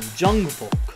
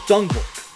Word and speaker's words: Jungvolk: Jungvolk. I was trying to pronounce it like Jungvolk. No, just Jungvolk. Wow. So, what did we learn today? Jungvolk. This translates to young people. And it's just pronounced Jungvolk.